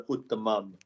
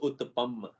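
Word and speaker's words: उत्तमम्: It's got a uttamam. There's a difference. Spelling mistake. Okay, keep continuing. No mistake. So how do I pronounce it? Uttamam, not uttapam.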